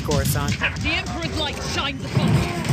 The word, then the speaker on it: Coruscant: It's Coruscant.